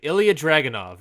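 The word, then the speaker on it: Ilja Dragunov: Pronounce it. Ilya Dragunov. Thank you. Ilya Dragunov.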